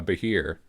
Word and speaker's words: Behir: it's a Scottish creature in Scottish it's called a bahir but it's spelled funny because uh us Celts are weird when it comes to spelling we just love our vowels yeah we sure do